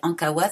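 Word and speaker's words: Ankaoua: Et Ankawa, ça s'écrit A-N-K-A-O-U-A.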